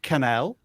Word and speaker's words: Cannell: jeff speaking of sean sean cannell rhymes with channel he is of course